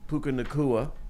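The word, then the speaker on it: Puka Nacua: happen someway somehow uh that defense played better puka nakua who I can say his name now he's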